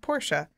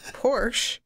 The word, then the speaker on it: Porsche: So Ferdinand Porsche, the guy who started Porsche and who it's named after, pronounced his family name Porsche. Mm-hmm. Tony Northrup, who says Porsche like an animal, is wrong.